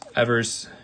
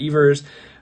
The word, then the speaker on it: Evers: my favorite card from that decade is this ever's chance and yes it is Evers not ERS um there was an interview with Johnny Evers